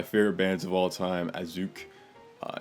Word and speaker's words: Assück: Uh on one of my favorite bands of all time Asuk. Uh it's not actually pronounced as suck due to the umlaut with the U and it's not a portmanteau of ass and suck.